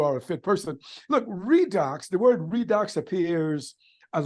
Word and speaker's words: Reidox: you that you are a fit person look redox the word redox appears as a lot you know with you all you know the redox for Life podcast uh the redox networking acts